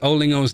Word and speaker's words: Olingo: How is Olingo's name pronounced? It's Olingo. Because it's O0 in Mandarin. O. So Olingo.